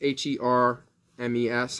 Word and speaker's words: Hermes: It's H-E-R-M-E-S. I think it's Hermes. I think the H is like silent. I think it's French, maybe. Not really sure.